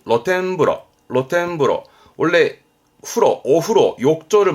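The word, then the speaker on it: 露天風呂: 로텐 그럼 이것도 오르실걸요 요거요 노천 그렇습니다 노천탕이죠 발음은 로텐브러 로텐브러 원래 프로 오후로 욕조를 말했던 부분인데 노천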